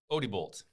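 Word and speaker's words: Odebolt: Boyer was born and raised in I'm not going to be able to pronounce that correctly. Odbolt.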